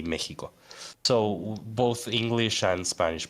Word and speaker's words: Mexico: been at first, because the X in Mexico comes from the Nahuatl, which more or less would sound like Mexico.